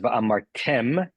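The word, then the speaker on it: וַאֲמַרְתֶּם: The first word is pronounced v'amartem. The stress is on the tem, and you know that because that's where the trup is.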